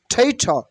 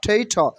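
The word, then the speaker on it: traitor: মানে দেশপ্রেমিক Patriot okay টেইট টেইট নট টেইট নট টেইট না ঠেইঠ ঠেইঠ ঠেইঠ ঠেইঠ ঠেইঠ মানে দেশবিরোধী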